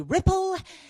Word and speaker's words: Ripple: so my name is Ripple rhymes with Tipple and I am what's